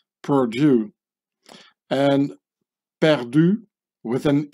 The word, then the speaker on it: Purdue: youth killer company is Purdue which sounds exactly as the French Perdue when pronounced by an English speaking person Purdue and Perdue with an